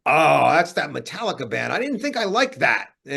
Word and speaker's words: Metallica: this band I'm like who's metala he goes no it's pronounced Metallica man I'm like all right